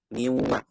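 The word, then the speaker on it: من والد: Misalnya ketemu waw min walidin wala nasir, min walidin wala nasir, miwa masuk miwa, masuknya ke khaysyum, keluar dengan wa, ada makhrajnya nanti di bibir.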